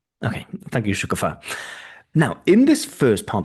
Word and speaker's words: Shukufa: This one is with Shukufa, stress on the last syllable, who's in Belarus.